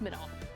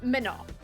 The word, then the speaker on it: Manon: a family friend, named, the way it's spelled isn't technically how it's pronounced, because she's French-Canadian, so, like, it's, like, said a certain way without, it's Manon. I'll just give it out, because whatever. But it's pronounced without the N.